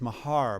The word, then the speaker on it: Maher: we say chelsea's name uh and it is mahar but i do i do play ball with